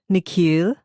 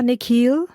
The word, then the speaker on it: Nikhil: down at his sneakers the way the principal pronounces his new name is different from the way his parents say it the second part of it longer sounding like heel she bends down so